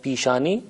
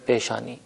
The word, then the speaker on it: پیشانی: کا لفظ رائج ہے، البتہ تلفظ تھوڑا سا مختلف ہو جاتا ہے۔ ہم فارسی میں کہتے ہیں پیشانی اور اردو میں کہتے ہیں پیشانی۔ یہ بھی کہتا چلوں